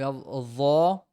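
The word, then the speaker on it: ح: sound of your throat it comes on your throat so huh hey who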